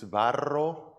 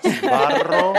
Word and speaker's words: Sbarro: You have a son-in-law who is Italian, so if you really want to impress him, the right pronunciation is Sbarro. Rolling the R's. Sbarro.